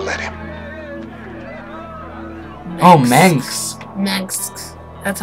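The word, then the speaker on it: Mengsk: Mengs. That's how it's pronounced.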